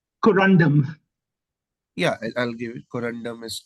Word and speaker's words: corundum: you just say one more time with the pronunciation corundum yeah I'll give it corundum is correct this is corundum the elements are